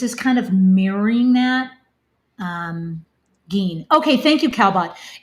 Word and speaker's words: Gein: Geen. Okay, thank you, Calbot. It's spelled Gine, but pronounced Geen.